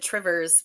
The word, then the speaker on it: Two Rivers: well kind of like there's a town called two rivers in Wisconsin and basically everybody calls it trivers because that's oh tvers